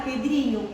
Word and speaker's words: Pedrinho: E na palavra Pedrinho, qual é a tônica? Dri, responderam todos a um grupo.